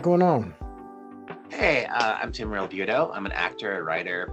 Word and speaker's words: Realbuto: Realbuto. Realbuto, accomplished actor, screenwriter, stage and screen, and he and I actually have a lot in common.